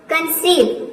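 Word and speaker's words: conceive: है समझना अगला है कंसीव कंसीव मींस होता है गर्भधारण इसमें भी देखिए ई आई एक साथ आया है तो ये हो जाएगा कंसीव कंसीव मीस होता है गग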